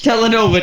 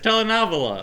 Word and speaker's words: telenovela: we can watch Telenova together. You're not even pronouncing it right. It's telenovela.